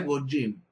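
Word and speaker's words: גוים: Porque la palabra gentil quiere decir, en hebreo se pronuncia gojim.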